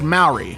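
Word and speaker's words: Māori: It's pronounced Maori.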